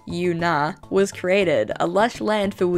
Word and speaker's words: Yuna: create one of my own, and thus Yuna, pronounced Yuna, was created, a lush land filled with dragons of all kinds.